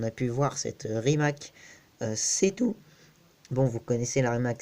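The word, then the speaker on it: C_Two: Mais non, faut croire que ça s'écrit C et bah tout, bah, comme 2 en anglais.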